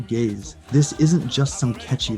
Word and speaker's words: Gaise: And by the way, it's Gaze pronounced Gaze.